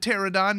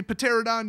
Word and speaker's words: Pterodon: Next up, Sun-Crested Pterodon. Yes, that is how you pronounce it. Do not say Pterodon, you'll sound like a Psycho.